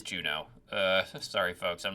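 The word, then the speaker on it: Juneau: I better go look up and make sure I'm actually pronouncing that right. Okay, we're so back. Yep, it is Juno.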